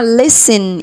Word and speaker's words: listen: عندنا هنا يستمع، listen. it is silent.